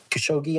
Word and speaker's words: Khashoggi: It's actually kind of amazing to me that despite their involvement with Washington Post journalist Khashoggi, I think is how you say his last